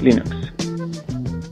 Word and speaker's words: Linux: This is Linus Torvalds and I pronounce Linux as Linux.